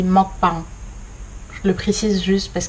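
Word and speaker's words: 먹방: Juste un point, les mukbang. En fait, ça se dit pas du tout comme ça, vu qu'en fait c'est coréen à la base. Ça se dit mukbang.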